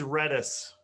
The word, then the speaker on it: Redis: to pronounce it and the other thing is it is redis and i i think that you mispronounced it um there is a